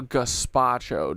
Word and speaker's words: gazpacho: A gazpacho, dude.